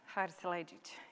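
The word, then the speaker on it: Haris Silajdžić: Remember Haris Salajic? Haris Salajic, yes. You pronounce it correctly, I pronounce it.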